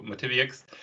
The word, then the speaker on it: MotiviUX: that yx uh sound at the end so motivix um being a company that is uh interested